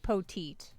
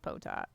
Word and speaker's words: Poteat: It looks like Poteet, but we're gonna go with Potat because it's Poteat. He was at this event last year, and I'm pretty sure it's actually pronounced Potat.